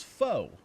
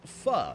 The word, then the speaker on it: pho: of weird is because I am assuming that they probably say it like most Americans, which is faux. And that would make it FOCO, which would make sense. It would rhyme. However, that's not how you pronounce it, and it's pronounced pho.